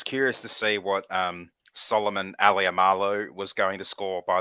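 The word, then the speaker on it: Alaimalo: I was curious to see what Solomon Aliamalo was going to score, by the way. Apparently that's the pronunciation, as I heard on the Behind the Roar episode last week from Chris Warren.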